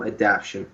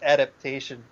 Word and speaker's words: adaptation: a game to film adaption what would it be and why I believe the word is adaptation it is oh yeah